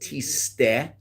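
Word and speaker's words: תשטה: Now, the word is pronounced tiste, and it's talking about the isha soita.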